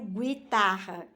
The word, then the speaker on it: guitarra: que o está bem ele é mudo né eu não pronuncio guitarra eu pronuncio guitarra então eu pronuncio o g eo e ficando Gui olha